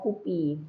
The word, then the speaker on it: KUPI: Tapi kalau misalnya tapi Gus Durian itu kan juga menjadi salah satu organisasi penyelenggara Kupi. Heeh. Ini Kongres Ulama Perempuan Indonesia itu jadi juga Kupi ya bukan kopi ya.